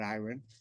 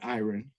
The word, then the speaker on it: Iran: away when people met iron they often commented on his name because it is spelled the same as the name of the Middle Eastern country but pronounced differently I recall asking iron's mother Mildred about the